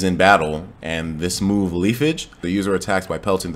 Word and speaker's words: Leafage: And then we can see that he also has a brand new move called Leafage. I think that's the way I pronounce it.